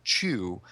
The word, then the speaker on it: Chu: And anyway, so let me jump into Chew. This Tony Chew detective has superpowers, which are food related. So you see, it's a pun on his name. He's Chew, CHU, and he chews things.